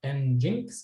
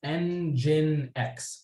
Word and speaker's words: nginx: really commonly used and this nginx it's not and Jinx it's nginx that's the way it's pronounced nginx is also a very commonly used